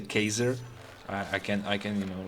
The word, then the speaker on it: Caesar: freely now, is that they did not pronounce C, but they pronounced C as a K. So it wasn't Caesar, but let's say Kaiser.